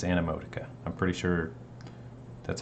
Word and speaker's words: Animotica: for checking it out this is emoticon or wait is that how you say it an emoticon anna that's going to trip me up all the time animotica it's animotica i'm pretty sure that's